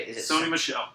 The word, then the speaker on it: Sony Michel: Is it Sony Michel. Sonny Michel, there we go, and Nick Chubb.